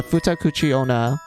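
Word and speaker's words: futakuchi-onna: up real quick oh okay so it's pronounced um sorry puta kuchi Ona so the futakuchi Ona or the two mouth woman she's known for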